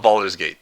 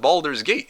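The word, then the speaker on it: Baldur's Gate: It's literally the best example I can produce you how to pronounce the bald in Boulder.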